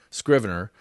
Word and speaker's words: Scrivener: them for shriven err Scrivener 3 and it is pronounced with a hard K or a hard C Scrivener 3 Mac OS update